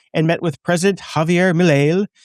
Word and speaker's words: Milei: The demonstration followed reports that Thiel has purchased a mansion there and met with President Javier Milei. How do you pronounce it?